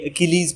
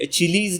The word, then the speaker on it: Achilles: सबसे पहले एक छोटा सा प्रोनाउंसिएशन टिप इसका नोट करें कि ये अकीलीज़ प्रोनाउंस किया जाएगा। तो यहाँ पे सी की साउंड जो है वो हार्ड है। ये अचीलीज़ नहीं होगा, अचील्स नहीं होगा, ये अकीलीज़ होगा।